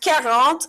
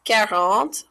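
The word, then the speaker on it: quarante: So 40 is how you pronounce this number, like you're caring for your aunt. So it's 40. So care and then aunt.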